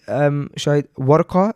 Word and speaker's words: Warqa: Like, in the sense that, you know, you go to Sharjah, you go to Warqa, is it Warqa? Am I pronouncing it right? Yeah.